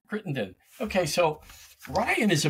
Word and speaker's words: Crittenden: Can you pronounce it for us? That is great. Yep. Crittenden. Crittenden.